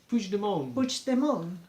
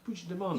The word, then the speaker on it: Puigdemont: Puigdemont. Puigdemont.